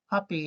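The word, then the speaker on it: Papi: great David Ortiz at first base big Pap poppy if you will pronunciation is key but yeah Big Poppy a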